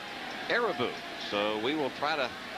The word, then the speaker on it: Irabu: learned or we thought we had learned that arabi was the right pronunciation of his name but arabou as reported by arabouz translator that it's not a robu that it is ereboo so we will try